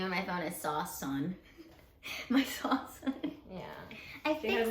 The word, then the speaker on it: Sawsan: So, if anyone is struggling to know how to say my name, it's Sawsan, like the Post Malone song.